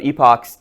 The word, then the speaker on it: epoch: I I I usually pronounce it epochs because if I say epic, people think I mean epic.